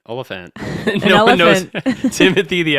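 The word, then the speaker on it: Olyphant: And uh, Timothy Olifant. Olphant.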